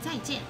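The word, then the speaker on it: 再见: Zaijian. Did I pronounce that correctly? To pronounce what? Zaijian. Zaijian, yeah. I was close? You're right. Oh. Zaijian.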